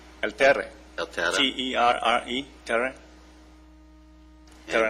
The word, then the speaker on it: Terre: How to pronounce it, what it means. Yeah, El Terre. El Terre.